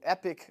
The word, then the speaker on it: Epoch: in the attack lengths so epic obviously a lot of you guys have heard of it is pronounced epic indeed and the dragonfly line